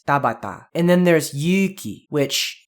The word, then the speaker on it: Tabata: you pronounce the T all of those syllables with exactly the same amount of stress it's not Tabata it's Tabata and then there's Yuki